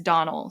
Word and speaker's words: Domhnall: He himself pronounced it as Donald. So, I'm going to go with his pronunciation, but his co-stars were all calling him Donal. So, I don't know. But if I'm the guy himself said Donald, so Donald Gleason, we're going with it.